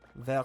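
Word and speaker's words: Vert: Ver sector 9. Ver sector 9. You don't pronounce the T in there means green.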